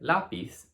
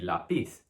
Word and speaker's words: lápiz: The tilde, which is this accent mark, lets you know that that is a syllable that should be stressed instead. So in a word like lápiz, it ends with this consonant, so it should be lápiz. But it's telling you here that you have to stress the A instead.